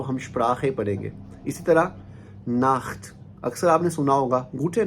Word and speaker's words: Nacht: तो नाख्त में भी आ के बाद जो है सी एच आया।